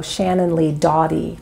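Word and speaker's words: Shannon Lee Dawdy: about University of Chicago anthropologist and MacArthur Fellow Shannon Lee Dottie people always ask me to spell it it's da wdy who served as a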